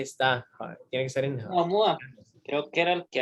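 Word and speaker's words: ʻOumuamua: ¿Cómo se dice? A ver. Oumuamua. Oumuamua. Oumuamua. Oumuamua. Así se dice.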